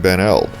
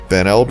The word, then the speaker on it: Benld: Ben Eld was declared the most difficult to pronounce place name in the state of Illinois by Reader's Digest, although it's phonetic if you can ignore the need for vowels.